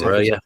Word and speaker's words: Broja: Because I think it's also Broja when he pronounced it. I think we've been told it's Broja.